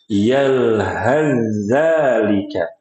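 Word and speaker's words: يلهث ذلك: Sehingga huruf sa yang sukun diidghamkan, dileburkan ke huruf zal. Makanya dinamakan dengan idgham mutajanisain. Yalhazalika. Dibacanya begitu.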